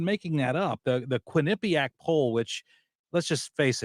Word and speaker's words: Quinnipiac: I'm not even making that up the the Quinnipiac poll which let's just face it it's fun to say Quinnipiac isn't it is that how you pronounce that I never knew yeah it's Quinnipiac huh okay and uh it's it's one of